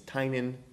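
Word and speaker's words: Tynion: what is it James tinian yeah tin actually I get his name wrong all the time and he it's it's tinan I don't know I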